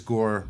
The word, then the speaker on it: Gore: And you notice Gore rhymes with whore.